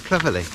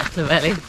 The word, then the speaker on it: Clovelly: So it's day 10 and we're heading to Clovelly. I thought it was Clovelly, but it's not Clovelly.